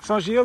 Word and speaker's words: Saint-Gilles: only a couple kilometers to go and we see the sign pointing to sanjil sanjil that's how you pronounce it yeah but it's been a very